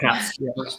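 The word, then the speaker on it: Pabst: Pass. I don't know how you pronounce it. P-A-B-S-T. Yeah, Pass.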